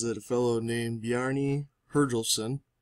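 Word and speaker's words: Bjarni Herjólfsson: Some people say it was Christopher Columbus, but the History Channel says that a fellow named Bjarni Herjolfsson, that is the correct pronunciation, first saw North America around the 11th century after he was blown off course while sailing across the sea.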